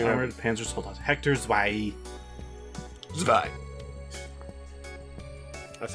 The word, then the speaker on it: Zwei: Zwei.